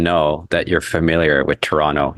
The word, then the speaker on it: Toronto: that you're familiar with Toronto you never pronounce the second T in toron put yeah okay so